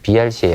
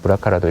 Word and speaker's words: BRCA: 그 중에서 가장 유방암과 이제 이 관계가 높다고 알려진 유전자는 이제 BRCA, 아까 BRCA라고 읽기도 합니다. 브라카라도 읽기도 하고 그래서 BRCA라고 읽으셔도 충분히 되고요. 아니면 브라카라고도 읽는데 브라카 1번 유전자와 브라카 2번 유전자 크게는 두 가지의 유전자가 있습니다.